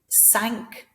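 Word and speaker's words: cinq: So the word 5, sank, 5 people sank in a boat, helping them to remember that it sounds like the word sank.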